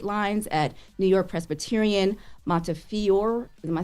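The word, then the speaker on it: Montefiore: And you asking anybody in this room how to pronounce it? That ain't gonna work well. New York, right? Montior.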